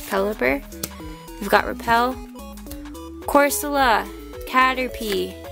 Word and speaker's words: Pelipper: fairy energy vada pelipper I always mispronounce s and SE pehly pepper I don't know why but it's pelipper we've got repel corsola